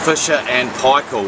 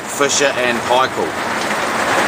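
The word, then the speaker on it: Fisher & Paykel: and Paykel machines if all you Americans its Fisher and Paykel was how you say it Fisher and Paykel anyway what usually happens in these as the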